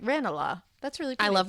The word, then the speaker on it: Ranelagh: Ranelagh. That's really pretty. I love when the pronunciation people are like, Ranelagh.